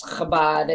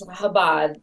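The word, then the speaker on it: Chabad: were trying to pronounce kabad oh that's little bit it's habad kabad I know you could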